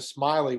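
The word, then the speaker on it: Smellie: is where uh dr smiley which is the right pronunciation but it's not spelled like that uh is buried in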